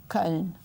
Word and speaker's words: Köln: How do you say Cologne in German? Köln. All right. Colonia. Okay. Now, for example, the cologne you wear, is that Köln too?